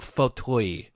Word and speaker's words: Fauteuil: She pronounces it Annabelle Fauteuil. It's a really weird French pronunciation that I'm not used to.